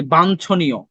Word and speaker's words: বাঞ্ছনীয়: আর এটা দেখো, এই যে তোমাদেরকে বলি বাঞ্ছনীয়, বয়কার বা ইয় ছ নিয়, তার মানে ইয় যোগ ছ উচ্চারণ করতেছো, বাঞ্ছনীয়, তাহলে কি যে এটা পেয়ে যাচ্ছ।